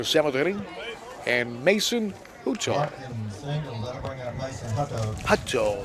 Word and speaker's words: Hutto: Hutto, that's pronounced Hutto.